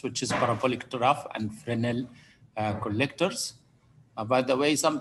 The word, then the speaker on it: Fresnel: is parabolic trough and fresnel collectors by the way some people read here fernell as fresnel the s is silent is not pronounced um and also we